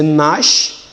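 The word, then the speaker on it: gnash: When G, letter G occurs before letter N, then you don't start pronouncing the word from G, you start pronouncing the word from N.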